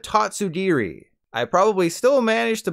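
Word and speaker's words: Tatsugiri: in the paldea region instead of saying its name like tattoo dondozo's best friend is based on the Japanese word for stand so you want to call it tatsudiri I probably still managed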